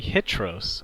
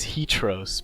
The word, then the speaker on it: Hitros: yeah, and as you guys know, it is actually Hitros. I know there's a little story behind that, maybe, possibly. But I know in the past there may have been a pronunciation as Hitros, but I think we're here to put that to rest.